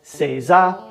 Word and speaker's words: seiza: which means to sit when you put those characters together the pronunciation changes and it becomes seiza correct sitting i've lived